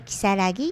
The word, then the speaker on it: 如月: イメージ如月っていうあの女に口って書いて如月って読みますでこれは 2